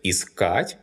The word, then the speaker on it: искать: The stress is variable because the infinitive искать is stressed on the last syllable.